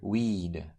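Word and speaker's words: oui: This letter combination is pronounced like W A E in the English word weed.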